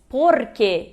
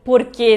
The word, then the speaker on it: porque: Se diz porque, e não porquê, né, como as pessoas pensam do português. É porque, porque é uma palavra só, não tá acentuada, então ela é uma llana, né?